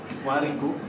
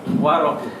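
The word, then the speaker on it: الورق: wariku, Bukan? waroku, Iya, al-war, Hasan, al-war, rohnya dipatahkan. Al-warik, kalau warik nanti beda dia kertasnya.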